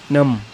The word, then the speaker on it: numb: UMB, नम। इसी तरह अंगूठा है, अंगूठे की स्पेलिंग क्या है?